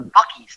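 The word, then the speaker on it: Buc-ee's: news today yeah so i stopped in a bucky's today do you know what a bucky's is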